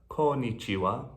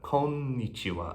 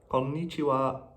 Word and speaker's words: konnichiwa: switched to konnichiwa you'll notice that konichiwa has two ends in a row and you really do want to pronounce both of them so not konichiwa but konichiwa a little bit faster it's konnichiwa I need to know